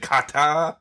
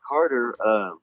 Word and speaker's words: Carter: Yeah, still spelled because they couldn't pronounce it. It's still Carter, but they just said Kata.